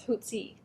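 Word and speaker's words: Hotze: Did I pronounce him correctly? Well, I've always called him Hoots. I've asked people from Mobile, Alabama, where he was from, and they often say it's Hootsie.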